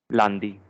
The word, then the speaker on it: lundi: Lundi. Lundi. It's the nasal sound again.